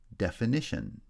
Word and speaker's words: definition: Definition then has secondary stress on the first syllable and primary stress on the third syllable.